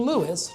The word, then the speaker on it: Lewes: name, and we've been Lewis, two syllables, ever since.